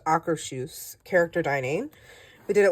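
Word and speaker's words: Akershus: um then we did our AC actually it's pronounced acaru character dining we did it last year as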